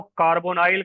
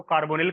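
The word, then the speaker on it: carbonyl: CO आपका कार्बोनाइल, IUPAC में इसे कार्बोनाइल कहोगे आप। अब अपना अपना प्रोनाउंसिएशन है, इसको कार्बोनिल करके भी हम लोग पढ़ लेते हैं, कार्बोनिल, कार्बोनाइल, ये आपकी इच्छा है।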